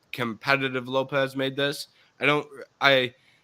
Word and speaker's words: Lopes: Lopes or Lopez uh he spells his name with an asset I think it's pronounced Lopez my bad um but I said Lopes every time I look at it because it's at the end um but um here